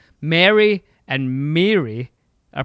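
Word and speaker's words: Merry: Well, I think it's M A R Y, which in the United States of America, most people pronounce like your name in Lord of the Rings.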